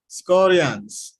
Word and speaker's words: Skorjanc: your name come on tell me Sarah Guardians scorions okay Saras Koreans who is all the way